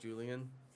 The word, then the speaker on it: Julian: would she totally would i rhyme with cerulean oh it's true you do just julian it has the same number of syllables too so it's a pretty good rhyme in that regard you should change your